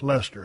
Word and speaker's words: Leicester: Oh, pronounced Lester.